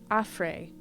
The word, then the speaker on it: Efri: Efri. Pronounced Afre.